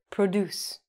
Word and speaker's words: produce: We say produce. Produce as a verb means to make. So you can produce anything in a factory. You can produce things at your house.